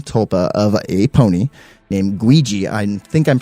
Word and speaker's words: Guigi: This was a college-age student man who created a female tulpa of a pony, named Guigi. I think I'm pronouncing it right. Ouija? G-U-I-G-I, like Luigi with a G.